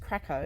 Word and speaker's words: Cracow: this place is called Krakow it is spelled c-r-a-c-o-w but it's pronounced Krakow and there's another one